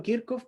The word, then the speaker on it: Kirchhoff: Yo le digo Kirchhoff porque en realidad así se pronuncia, pero si alguien le dice Kirchhoff, temas de gusto.